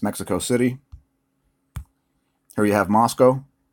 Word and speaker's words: Moscow: City here you have Moscow please stop saying Moscow it's pronounced Moscow and no we don't